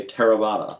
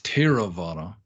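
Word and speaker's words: Theravada: me how to say tarabata so uh extreme although technically it's teravada taylor again this is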